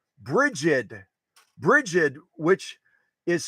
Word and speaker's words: Brigid: wrong circles but her first name is Bridget not Bridget Brigid Brigid which is spelled